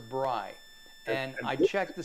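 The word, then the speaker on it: brei: did i spell it b-r-i-e it it almost sounds like matzo brie but it's not mozzarella it's matzo brai and i checked the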